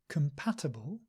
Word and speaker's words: compatible: relax the mouth uh and this word compatible compatible has come at the beginning not calm not with a round mouth no relax the lips relax the